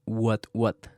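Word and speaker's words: What Watt: Después de escuchar este episodio de 13%, busquen el podcast What What. Se escribe W-H-A-T, W-A-T-T. Es como que vatio, pero en inglés.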